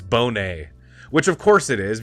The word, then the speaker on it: Bonet: thank you Darnell leak this is how you pronounce it and I was saying Bonnet it's Bonet which of course it is because it it